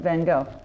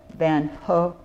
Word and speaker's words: Van Gogh: the first individuals through those doors was Vincent van go by the way just a word about pronunciation the correct pronunciation of his last name